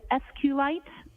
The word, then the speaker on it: SQLite: as far as the sqlite database uh how is that spelled it is capital SQL lowercase i te and sqlite uh is also commonly pronounced as SQ light so both pronunciations are acceptable now once you received